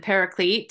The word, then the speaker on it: paraclete: And the pronunciation, you said paraclete. I think that's right, because the root word is parakletos.